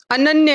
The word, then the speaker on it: अनन्य: अन्य, ठीक से बोल रही हो बाबू, प्रॉपर प्रोनाउंसिएशन है या अनन्य है? अनन्य है, क्या है?